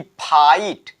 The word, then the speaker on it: fight: जब जीएच किसी भी वर्ड के बीच में आ जाए तो उसका लोप हो जाता है, यानी वह साइलेंट हो जाता है। तो एक एग्जांपल से समझते हैं हम, जैसे हमने यहां पर लिखा कि फाइट, FIGHT, ये इसका क्या हुआ, लोप हो गया, यानी ये साइलेंट हो गया, ये जीएच साइलेंट हुआ।